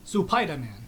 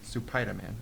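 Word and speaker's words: スパイダーマン: Supaidaman. Supaidaman.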